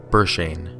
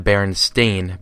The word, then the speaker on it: Berenstain: In that linguistic region, the name tended to come out something like Berenstain. Since that's how the name was originally documented, it has always been spelled that way by our family, and it has always been misread and mispronounced by nearly everyone. It has always been the Berenstein Bears.